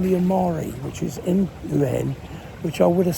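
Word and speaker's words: Hua Hin: And I'm going to say Wahin now. It is called, if you look it on the map, it is spelled Huihin. Sorry, I'm getting it wrong. Huihin. Thank you. Huihin, Huahin. And if you look on the map, that's where it's spelled. But you listen to the locals and they all call it Wahin.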